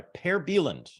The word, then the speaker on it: Per Bylund: I am joined from Tulsa, Oklahoma by Per Bylund, and that is closer to the real pronunciation, I understand, than what you're often called,